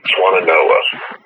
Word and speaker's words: Swannanoa: Swannanoa. Swannanoa.